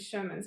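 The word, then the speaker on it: Scheuermann's: So as I mentioned, at 14, I was diagnosed with Sherman's disease. So there's the word Shermans. Okay. It's not spelled like Shermans, though.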